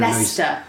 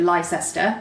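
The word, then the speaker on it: Leicester: sorry what's the name of the city again looser I think you Americans mispronounce it by calling it a lie sister okay gotcha gotcha so yeah I'm here to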